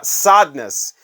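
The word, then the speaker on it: Sadeness: not called chardonis it's called sadness because the uh the Muse of the song is uh the Marquita Saad who knew that that's that's crazy but yeah sadness part one is actually how you pronounce that how about the blonde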